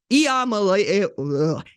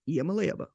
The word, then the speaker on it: Iamaleava: Tennessee quarterback Nico Iamaleava. Nico Iamaleava.